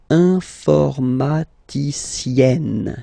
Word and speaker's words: informaticienne: And you get the sound informaticienne, sienne.